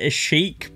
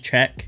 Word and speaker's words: Cheque: anyway it's called Czech I did originally pronounce it AIC but I Googled it and apparently pronounce it as check the cover art is